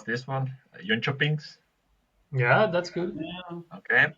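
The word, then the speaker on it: Jönköpings: Next team, let's try to pronounce this one. JONKOPINGS.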